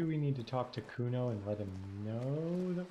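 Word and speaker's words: Cuno: me to nick it kuna no i didn't it's kuno say it right say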